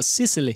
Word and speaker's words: Sicily: What's the right way to pronounce it in English? Well, Sicily.